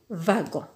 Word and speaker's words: wagon: Donc, wa comme wapiti, va comme wagon.